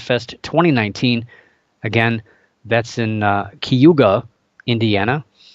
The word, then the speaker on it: Cayuga: in Indiana but it's it's spelled CA Y UGA you'd think it would be Cayuga but it's taste I